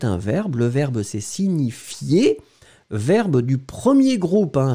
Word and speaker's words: signifie: Le verbe, c'est signifier. Verbe du premier groupe, hein, régulier. Un petit peu difficile à prononcer, le ni ni ni ni, si ni ni ni signifie.